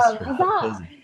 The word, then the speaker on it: Huzza: One of the It could be things, really southern and it could be huzzy. Huzzy. Well, there's an A there. It's not Huzzy. Yeah. Huzzah.